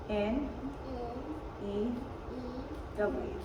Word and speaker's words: knew: So this is new, like I have a new pair of shoes, right? But when it's spelled like this, it's like I knew her. Like past tense, like know, right? Like you know someone, past tense would be new.